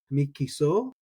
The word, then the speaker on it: mikisa'o: Now, some people might just leave that aleph as silent and say something like kiso, mikiso. Mikisa'o is how I'm going to say it. I like to pronounce my alephs and my ayins. Mikisa'o. You can almost do it that way at the speed of speech. Mikisa'o. And mikiso just sounds slightly different.